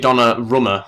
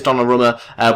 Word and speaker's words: Donnarumma: Okay, so I wasn't too far off with the pronunciation. It's actually Donnarumma. I didn't have the name written down or anything like that, but it is Donnarumma.